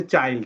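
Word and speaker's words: child: kill চিল আচ্ছা ঠিক chill, আছে, আস্তে চিল না, ওটা হচ্ছে চাইল্ড। হ্যাঁ, ওটা ওটা ফোনিক্স এর কাজ করে নাই ওখানে নিয়মটা, ওটা হচ্ছে চাইল্ড। চাইল্ড, হ্যাঁ, ওখানে ইটা আই এর মতোই উচ্চারণ হয়েছে, চাইল্ড।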